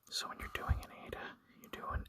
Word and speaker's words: eta: So Eta is similar to the sound in bed, but held longer.